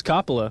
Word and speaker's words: Coppola: Coppola is how it's pronounced.